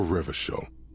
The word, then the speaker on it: Revachol: For Revachol, your city, if it doesn't rhyme, you're not pronouncing it right.